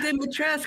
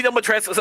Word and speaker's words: Dimitrescu: it's not supposed to be Dimitrescu. It's Dimitrescu. That's how it's supposed to be pronounced.